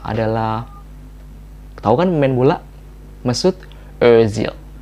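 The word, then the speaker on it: Özil: kasih contoh adalah Hai kawan main bola Mesut Ozil Ozil Hai atau bisa juga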